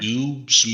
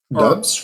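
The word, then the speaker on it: Doubs: Um, he has a U in there. I know, but it's still pronounced that way for some reason.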